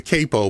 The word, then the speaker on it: capo: but or a cppo people say it should be pronounced cppo but wouldn't it be two PS if it was cppo the use of one p would mean it's pronounced Capo anyway I digress uh I